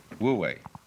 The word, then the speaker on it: wu wei: And then, with this character, this is pronounced, this one is Wu, and this one is Wei. Wu Wei.